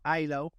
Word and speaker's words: illow: about yourself and Company of course so uh ILO where a lot of people pronounce it ELO because makes more sense when you read ELO